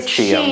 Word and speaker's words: Qi: that would all be under the CH but it's spelled Qi yes right okay in